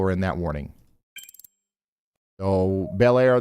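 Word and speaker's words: Bel Air: Oh, Belair. They're saying it's pronounced Blair.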